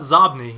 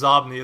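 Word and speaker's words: Xobni: What about Zobni? You use that as well, right? And I don't know if I'm pronouncing that right. I'm assuming it's Zobni. It's spelled with an X-O-B-N-I. Yeah, I think it's Zobni.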